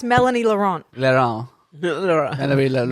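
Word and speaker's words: Mélanie Laurent: You couldn't pronounce Melanie Laurent. Laurent. Melanie Laurent. Melanie. Laurent.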